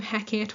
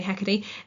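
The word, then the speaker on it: Hecate: We also have another villain whose name is Hecati. Um again lots of different pronunciations of this name. Heckit, whatever I say. Hecky.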